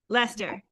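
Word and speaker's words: Leicester: Lester Lester. Oh, there we go. Uh, UK. Thank you. I look at that word and I don't see Lester.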